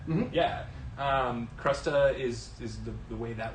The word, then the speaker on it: crusta: this is an armagnac uh i've always said crusta yeah um crusta is is the way that word is pronounced and armagnac is a very very special